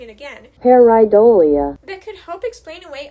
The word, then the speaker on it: pareidolia: And it's that last bit, not pronouncing it again, pareidolia, that could help explain away a lot of Bigfoot sightings.